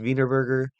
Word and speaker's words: Wienerberger: to be doing an analysis and evaluation of vburger and I looked up how to pronounce the name and it is pronounced vburger and I'll try not to laugh but that